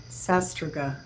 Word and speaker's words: sastruga: what does sastruga mean it's actually pronounced um sruga uh actually the a is a CH sastruga sastruga that's how it's pronounced because I do know